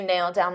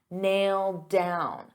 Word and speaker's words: nailed down: So because I have a D sound on down and these two go together, I'll pronounce it as one and you'll only hear one D sound. Nailed down, nailed down.